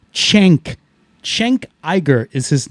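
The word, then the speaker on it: Cenk: the show, and his name is Cen K, pronounced Chenk.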